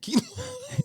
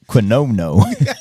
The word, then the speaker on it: quinoa: Because there are only certain races that probably eat quinoa. Yeah. Is that how you pronounce it? Quinoa. Yeah. Yeah. Really? Yeah. How did you think you pronounced it? Quinoa. Quinoa. That's what it looks like. Quinono.